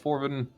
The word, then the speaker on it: Forvin: You did pronounce it correctly that time because you didn't use the I that doesn't exist.